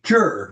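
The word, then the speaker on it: zhi: The other aspect of this, the aspect of spirit that is associated with the kidney and with the water, is the jur, which is spelled Z-H-I, and it is translated as will.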